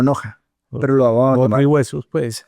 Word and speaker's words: Knoche: Sí, se escribe K-Noche, pero en español se lee como Noja.